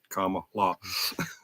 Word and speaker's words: Kamala: I get tongue tight it's comma like like the like the comma Mark and law comma law people pronounce my last